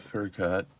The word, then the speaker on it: Furkot: It's called Fur Coat or Fur Coat. Fur coat. How do you spell it? Furkot.